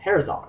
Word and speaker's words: Herzog: uh there was the V German settlement called Herzog which is spelled h e r z o and eventually